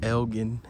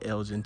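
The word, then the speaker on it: Elgin: Yes, it is pronounced Elgen, Texas, not Elgen, Texas.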